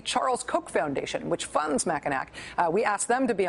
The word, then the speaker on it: Mackinac: They are, if you phonetically read the name of the think tank, it is Mackinac. They apparently prefer to be called Mackinac.